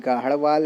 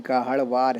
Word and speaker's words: गाहड़वाल: गाहड़वाल के दो प्रोनाउंसिएशन है, एक गाहड़वाल है, एक गाहड़वार है।